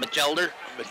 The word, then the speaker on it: Batchelder: We'll call him Batchelder.